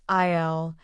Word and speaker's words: aisle: Alex found his favorite items in aisle 5 at the store. Remember, the S is silent. It's pronounced IL.